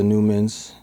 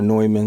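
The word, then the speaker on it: Neumann: and stuff we have I got the newans or noyman is how you say it m um yeah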